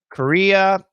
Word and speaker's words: Korea: them for you guys korea this is american pronunciation korea korea career career career carrier